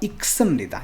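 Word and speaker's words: 읽습니다: यहाँ पे इसका जो प्रोनाउंसिएशन होगा वो होगा इक्समनिदा। इसमें ल जो है वो साइलेंट है, इसमें ये जो ल है इसका साउंड नहीं होगा, तो इक्समनिदा पढ़ेंगे इसको, ठीक है।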